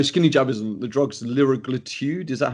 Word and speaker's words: liraglutide: The drug's liraglutide.